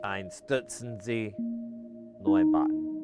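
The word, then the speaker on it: Einstürzende Neubauten: I guess I should put more emphasis on the middle part, because I always go Einstürzen, but it's Einstürzen Neubauten. Like you gotta put a little bit of emphasis on that middle syllable, and I was like,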